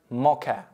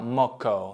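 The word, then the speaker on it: mocha: то есть сорт кофе произносится это слово Как мокэ американцы иногда говорят как ты типа maco но подразумевается всегда Мокко А если Мокко употребляется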